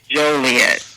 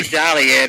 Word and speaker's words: Joliet: it Joliet or jolet it's Joliet if people say jolet it's not an a it's an O It's jolly that's where all the